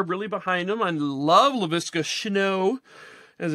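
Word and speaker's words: Laviska Shenault: I love LaVisca Chenault, as it's pronounced, but he's not a huge threat.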